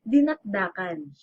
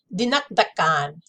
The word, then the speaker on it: dinakdakan: Listen, as long as I'm spiraling around the web right now, let's just find out the correct pronunciation, okay? Dinakdakan. Dinakdakan.